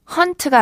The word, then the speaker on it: haunt: 철자 도 발음도 다릅니다 짧게 헌트가 아니라 몸을 약간 길게 끌어서 허한 차면 귀신이 출몰한다 유령이